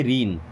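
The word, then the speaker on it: ruin: Don't रीन, इससे रूइन नहीं पढ़ते, क्या पढ़ते रीन, यू साइलेंट हो जाएगा, ठीक है।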